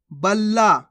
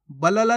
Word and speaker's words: बल्ला: नुस्खा कैसे पढ़ेंगे नुस्खा बल्ला कैसे पढ़ेंगे बल्ला बलाला नहीं बल्ला चंपा कैसे पढ़ेंगे चंपा